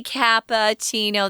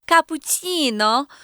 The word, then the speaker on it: cappuccino: breakfast is that cappuccino we say cappuccino they say cappuccino so yeah that sounds really